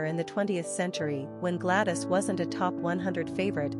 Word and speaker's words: Gladys: Also, since Gladys is closely connected to the Welsh word for country, we also find it rather patriotic.